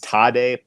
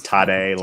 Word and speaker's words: Tadej: Our favorite right now is Tadej Pogačar. If you are seeing that name and wondering how to pronounce it, it's Tadej, like Tadej, and Pogačar, even though there's no H in there.